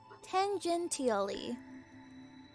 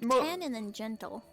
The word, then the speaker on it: tangentially: Tangentially. Tangentally. Tangentally. Tangentally. Tangent. Tangentally. Yeah. Just like it's like tan and then gentle.